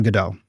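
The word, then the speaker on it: Godot: Katonaut runs on GDAU. Uh, yes, that's the pronunciation. It's referencing the play, although Beckett was Irish, so he likely would have said uh, Gate or something.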